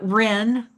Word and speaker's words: Ren: Uh, Ren. Ren. Okay. Yeah. It sounds like the bird, but it's spelled different.